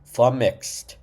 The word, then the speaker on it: flummoxed: And it's two syllables. Flumxed. Kind of like an X but softer. Xed. Flumixed.